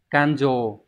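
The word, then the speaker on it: 勘定: Đây, chữ khám và chữ định nó đọc là dồ mà. Kanjo có nghĩa là thanh toán.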